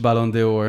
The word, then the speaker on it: Ballon d'Or: no Premier League player has won the Ballon d'Oro. However, The Bolondonoro? I don't know how to What are you pronounce saying? that, John. Ballon d'Oro. How do you pronounce it, Gabriel? Ballon d'Or.